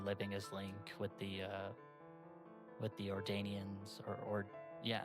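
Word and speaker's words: Ordonians: as Link with the Ordanians or yeah, I think Ordanians is the correct way to say it.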